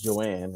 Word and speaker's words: Johanne: So my wife's name is Joanne, right? And it's spelled Johanne. The H is silent.